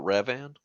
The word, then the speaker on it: Revan: couldn't really be So it's pronounced Revan, Revan. like Riven, but Revan.